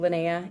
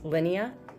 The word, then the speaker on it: Linnea: following the story of now I pronounced her name Lena in the movie It's Linea so either way but it has real